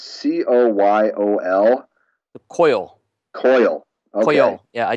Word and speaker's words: Coyol: And it's more the pronunciation. That Alec Bradley stick I was smoking the other night. It's Coyol. The Coil.